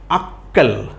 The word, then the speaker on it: আক্কেল: গিয়ে আমরা কি বলছি আক্কেল আক্কেল তো এখানে কিন্তু ক এর দুইবার উচ্চারণ হয়েছে প্রথম অংশে আমরা কি